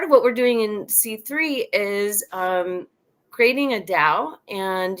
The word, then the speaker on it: Si3: I am a co-founder of an organization called C3. It's spelled SI3. So the C in there, SI, is inspired by my time in Mexico and means saying yes to Web3.